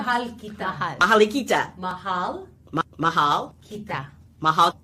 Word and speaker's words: Mahal kita: Malakita? No. Yeah. Mahal kita.